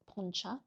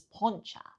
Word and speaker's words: poncha: So we all know I love poncha. Apparently I say it wrong, it's poncha, but we all know I love it.